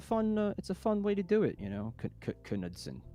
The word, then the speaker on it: Knudsen: That's how you pronounce it. But Norwegian is Knudsen. Yeah, it's a fun way to do it, Knudsen.